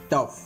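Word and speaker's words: tough: next rule three பாருங்க ஜி ஹெச் ஒரு சில இடங்களில் f ஒளிவடிவில் வரும் ஜி ஹெச் க்கு ஒரு சில இடத்துல எப் அப்படிங்கிற சவுண்ட்ல வரும் அது என்னென்ன எக்ஸாம்பிள் பாருங்க காஃப் லாப் டஃப் இந்த இடத்துல இஃப் காஃப் இஃப் அப்படிங்கிற சவுண்ட்ல வருது எப் சவுண்ட் இஃப் நெக்ஸ்ட் பாருங்க ஹச் ஒரு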